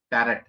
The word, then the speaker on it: Tarot: पहली बात तो इसकी स्पेलिंग होती है TAROT, टैरेट। तो इसको पहली बात तो टैरेट नहीं बोला था, इसको टैरो बोला था, टी यहां पर साइलेंट।